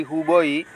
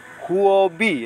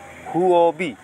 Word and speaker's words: Huobi: kointi yang ada di huboi huobi ya sorry ya bacanya pun repot huobi bisa ya beli bisa cuman ini